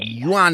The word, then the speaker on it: Jan: It's it's actually pronounced Yuan. Yan.